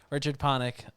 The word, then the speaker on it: Richard Panik: Richard Panik.